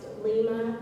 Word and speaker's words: Lima: information, Chairman, her name is pronounced Lima.